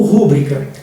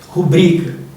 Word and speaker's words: rubrica: interim ou interim interim rubrica ou rúbrica rubrica eh ênfase ou enfase